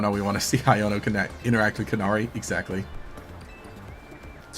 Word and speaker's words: Iono: Because here I am, I said Iono, right? And you get someone who comes in and says, you know, who says it's pronounced Iono because in Japanese that's how it would be pronounced.